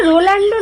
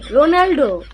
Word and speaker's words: Ronaldo: প্রথম কথা ভাই ওটা রোনাল্ডো নয়, রোনাল্ডো। তুই উচ্চারণ করতে শেখ, তারপর না তুই রোনাল্ডোর ফ্যান হবি, সরি তোর রোনাল্ডোর ফ্যান হবি।